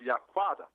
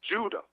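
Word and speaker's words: Yehudah: So like I was saying, in the original Hebrew, our tribal name is pronounced Yaquada. Okay. But these Europeans, they don't translate our language and made up new letters. Now they say Judah or Jew.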